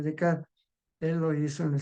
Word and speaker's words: Descartes: Por supuesto que los existencialistas no se hacen esa pregunta, lo hace el razonamiento y eso fue Decar. Se escribe Descartes, René Decar, él lo hizo en el siglo XV.